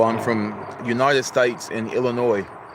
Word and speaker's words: Illinois: from United States and Illinois. The S is silent.